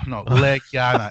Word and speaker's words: Legiana: Legana. Legiana. Yeah. Well, I love the way that one looked. That one was so freaking awesome. It's pronounced as Biana. No, Legiana, Legiana.